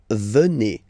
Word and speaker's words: venez: Then classic ending for vous, a Z here, and then you pronounce it et, vous venez.